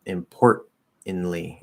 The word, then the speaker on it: importantly: um yeah uh so in words like importantly and currently you can drop the glow stop because it's ntl yeah i'd say so yeah important importantly importantly importantly importantly now